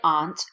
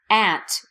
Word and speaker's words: aunt: the same pronunciation aunt you will hear certain dialects of English say aunt but aunt is definitely more common and more standard aunt uncle niece nephew